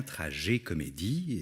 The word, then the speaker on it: Tragécomédie: de la trajet comédie je dis bien trajet comédie et si je mets l'accent tonique sur le et de trajet comédie c'est pour faire la différence d'avec la tragi-comédie qui est apparu au xvième siècle qui définit une histoire